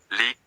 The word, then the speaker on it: lit: Le lit is bed, lit, T is silent.